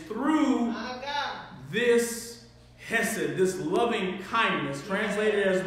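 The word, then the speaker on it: חסד: It's a Hebrew word called hesed. And when you say it, it's very Jewish. You have to kind of act like a something stuck in your throat a little bit.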